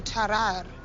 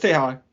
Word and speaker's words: Tarrare: No, it's Tehar. I got this pronunciation. Tehar. And well, he said it like you said it, but I found the actual one.